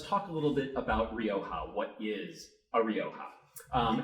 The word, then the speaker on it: Rioja: the Ohio River so it's the Rio OHA Rioja um to pronounce it properly you should get a little bit of a real hot kind of a sound in there I'm not going to